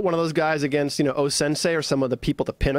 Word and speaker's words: O-Sensei: O-Sensei. O and then Sensei.